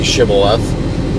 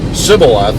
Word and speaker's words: shibboleth: they said to him then stay shibboleth and he said sibilath for he could not pronounce it right Then They seized him